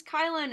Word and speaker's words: Kylan: Hi everyone, my name is Kylan, otherwise known as Kyle with an N.